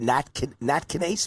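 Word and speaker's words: nattokinase: all the right things, like what is it, natkinase? Am I pronouncing that right?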